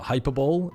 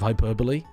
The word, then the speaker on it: hyperbole: what was another one Bren also said the hyperball instead of Hyperbole and epitome instead of